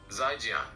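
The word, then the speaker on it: 再见: The most common and standard way to say goodbye in Chinese, Mandarin, is 'zhi, pronounced 再见.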